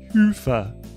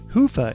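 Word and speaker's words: Hyvä: MN and contribute to their cause talk Commerce is sponsored by hia or as the Europeans say Hua or the right way to say it hufa is rapidly becoming the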